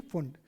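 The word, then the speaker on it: Pfund: तो अपने इसको याद रख सकते हैं LBP से, LBP लाइमन बामर पाश्चन ब्रैकेट और P फुंड। मेरे ख्याल से यहाँ तक हो गया भाई आपके। P साइलेंट होता है, ठीक है।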